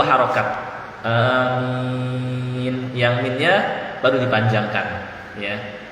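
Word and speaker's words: آمين: Ya, cara membacanya ini, alifnya dipanjangkan 2 harokat, jangan terlalu panjang, amin. Nah, ini keliru, jadi cukup 2 harokat saja, baru yang minnya panjang, amin, gitu ya.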